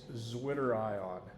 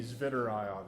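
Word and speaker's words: zwitterion: It's zwitter ion or if you want to pronounce the W like you would if you were saying this in Germany, zitter ion some people say.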